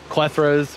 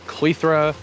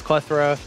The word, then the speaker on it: Clethra: i should also mention i have always referred to these as plethoras monrovia's website so the pronunciation is clethra missouri botanical gardens that's klethra potato potato these are